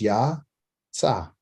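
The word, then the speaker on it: יצא: And this is silent. There's no reason, there's no vowels underneath it, so you don't need to make a sound. Okay. So you only make a vowel or a sound under those things which have a vowel sound. Okay. So that's Ya, Tsa.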